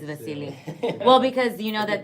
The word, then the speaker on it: Vasiliy: It's Vasily.